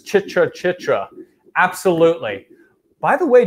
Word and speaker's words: Chitra: or your box turtles the colognian HUD says Chitra Chitra absolutely by the way did you notice the way that I pronounced that so when we talk about colognian